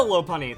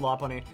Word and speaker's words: Lopunny: is how to use low py and mega low py also I do know that the correct pronunciation is low py I've always said La py so let's just get into the stats now